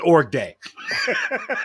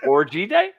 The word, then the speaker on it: org day: Everybody in the Roughnecks showered together, and we called that an org day. Orgy day? Org day. Hey, don't add the Y. We don't pronounce the Y.